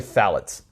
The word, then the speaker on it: phthalates: It's actually phthalates. It's the I'm going to spell it for everybody, the okay?